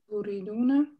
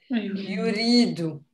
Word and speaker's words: يريد: Uriduna. La. It stays singular. It starts with what? With the verb. Uridu or turidu. No, Leonie said it right. Yuridu.